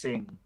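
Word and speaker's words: Singha: It's not pronounced Sing Ha. It's pronounced Sing.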